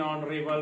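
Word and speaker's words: honorable: तो यहाँ पे क्या लिखेंगे, an honest man, एन ऑनरेबल मैन, है ना, ये लिखेंगे, ठीक है।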